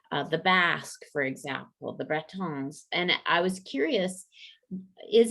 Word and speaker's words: Bretons: Yeah, not so much the Bretons, as that's the proper way to say it, or Britons or the Basque.